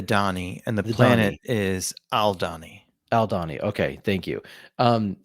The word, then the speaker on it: Aldhani: the uh aldhani and is that how it's pronounced aldhani the people are the Donny and the planet is aldani aldani okay thank you um whenever he talks